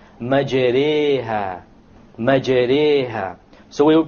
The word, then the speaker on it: مَجْرِيهَا: If you were to not know what an imala is, you would say مَجْرَاهَا, but that's a mistake. You have to pronounce it with an imala. An imala is pronounced as this, مَجْرِيهَا, مَجْرِيهَا.